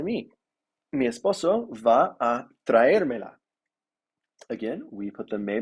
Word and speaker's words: traérmela: Mi esposo va a traérmela. Again, we put the me before the la because indirect before direct. And we put a written accent on the syllabus. The syllable that is emphasized. Traérmela.